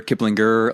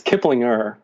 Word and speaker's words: Kiplinger: It's a softer like kind of glide over the G.